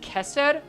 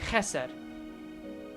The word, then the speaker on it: Chesed: It's pronounced Chesed? I'm pretty sure it's like there's a bit of phlegm on it. It's like Chesed. Like there's a bit of phlegm on it, right?